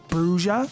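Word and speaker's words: Brujah: Bruja, if you like to probably pronounce it the right way.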